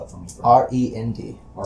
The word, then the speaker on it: Rend: spell it for me r-e-n-d not like the musical my name is rend